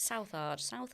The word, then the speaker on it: Southard: Lyda Southard. With a D. Southard. That's how you say it, is it? Southard? I think it's Southard. Southard, yes.